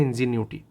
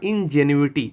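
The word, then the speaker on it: Ingenuity: Correct pronunciation होगा इंजेन्युइटी।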